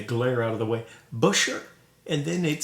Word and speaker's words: Buescher: i've been told it's beucher the american pronunciation is generally busher and i'm satisfied with